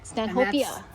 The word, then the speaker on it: Stanhopea: So, we've been pronouncing it Stanhopea.